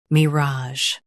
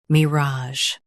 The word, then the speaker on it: mirage: Mirage. Emphasize raj and keep me light.